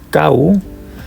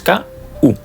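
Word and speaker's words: 買う: lo sabréis, que es kau, solo termina en U. Tenemos dos sílabas, ka, u. No hay ka, tsu, ka, gu, ka, mu. No, es ka, u.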